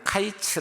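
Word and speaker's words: קיץ: 보니까 히브리어로 여러분 과일은 카이츠 라고 나타나 로 쓰고 끝은 캐치 라고 난 다 넣었습니다 근데 모음 자는 술 다 똑같아요 단지 발음이 카이츠 캐치 들어 버립니다 그러니까 카이츠 즉 여러분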